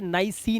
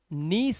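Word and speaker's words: niece: से बिलीफ, और इसीलिए इसे नाइसी नहीं पढ़ते, भतीजी को नीस पढ़ते हैं। क्या पढ़ते हैं? नीस। नीस, आई ई जो है वो ई बन जाता है, इसलिए नाइसी नहीं पढ़ना है, नीस पढ़ना है इसको।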